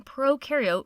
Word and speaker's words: prokaryote: like to remember that pro in prokaryote rhymes with no, and eu in eukaryote rhymes with do.